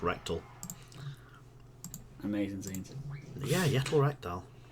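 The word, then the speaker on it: Rekdal: that person's name yeah his surname is rectal r e ke r e k d l just pronounced rectal amazing scenes yeah yet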